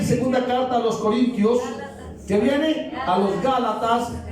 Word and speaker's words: Corintios: dice carta de los corin a a los corinos alguien escri para ellos las epístolas a los romanos Sí luego primera y segunda carta a los Corintios que viene a los Gálatas Efesios Filipenses colosenses